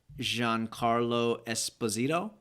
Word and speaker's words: Giancarlo Esposito: So, I'm not quite sure how to say his name, but I think it's Giancarlo Esposito.